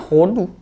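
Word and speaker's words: הודו: Di sini hanya memakai he sama dalet. Ya langsung bacanya hodu.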